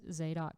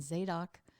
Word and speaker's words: Zadok: caves the struggle between zadok i like to say zadok but i think it's the doc if we really pronounce it correctly and abiathar and what